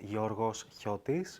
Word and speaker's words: Georgios Chiotis: It's Greek. It's pronounced Georgios Chiotis, which is just unpronounceable.